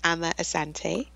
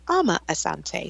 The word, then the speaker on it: Amma Asante: say your name yeah I say my name I'm a Asante but I'm used to Americans saying my name amma asante so I respond to either okay and and that's